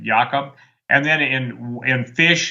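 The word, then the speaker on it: Jakob: chrysfeld jacob disease uh and jacob to us but they pronounce it jakub and then in in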